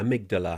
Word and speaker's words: amygdala: Yeah, amygdala, that's how you pronounce it.